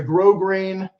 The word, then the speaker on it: grosgrain: Made in Texas from firm, high-quality felt, it features a grosgrain, the S is silent, ribbon hat band accented by a bold feather on the interior.